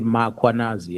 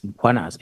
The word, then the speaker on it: Mkhwanazi: them to pronounce Mkhwanazi, they will put an A after M. Uh they will say "Makhwanazi" and there's no A, it's Mkhwanazi, M K H.